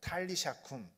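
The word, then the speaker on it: Talitha koum: 잘 아시다시피 어 달리다꿈입니다 달리다꿈 어 좀 더 좀 더 현실 좀 더 이렇게 발음을 살려서 얘기하면 탈리샤 cour이라고 합니다 탈리샤 cour 탈리샤 because이 베드로가 다비다를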